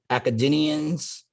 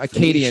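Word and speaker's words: Akkadian: now look at that academians uh Acadian is how you pronounce that Acadian Phoenix and Arabs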